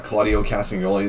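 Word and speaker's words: Claudio Castagnoli: with Brian Danielson and like Cesaro with uh Claudio casting only that's how you say his name and then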